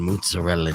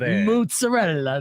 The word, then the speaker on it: mozzarella: And in fact, actually, if you're extra Italian, if you don't say the A, it's mozzarella.